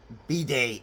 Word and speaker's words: bidet: Bidet is the French. So, anyhow, here's the one that I bought. It's the Lux, I still can't pronounce it properly, Bidet. No T involved.